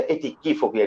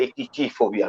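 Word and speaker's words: atychiphobia: উচ্চারণটা কি হবে, আমি গুগল করলাম, গুগল থেকে উচ্চারণটা শুনলাম। সো এখন আমি এটা জানি যে এটা এটিকিফোবিয়া, এটা এটিচিফোবিয়া নয়।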